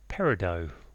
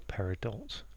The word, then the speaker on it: Peridot: said it today is parido or paridot. Um apparently both ways to pronounce it are correct.